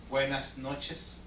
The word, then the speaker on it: buenas noches: can you say good night in spanish is buenas noches again again buenas noches okay that's that's better